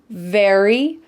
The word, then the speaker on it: very: Very, berry. With the V sound, your top teeth are on your bottom lip.